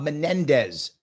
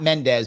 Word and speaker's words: Menendez: you my friend was Bob Menendez thank you not Mendes my mistake I apologize for getting his name wrong it was Menendez that's the guy with